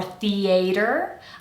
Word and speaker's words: theater: Theater has more than one correct pronunciation, so you might hear theater or theater. I say theater, so that's how I'm gonna teach it.